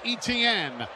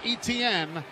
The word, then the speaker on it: Etienne: So Ronnie Harrison on the special teams tackle, putting down Travis Etienne. He spells his last name E-T-I-E-N-N-E, but it's pronounced like the 3 letters, E-T-N.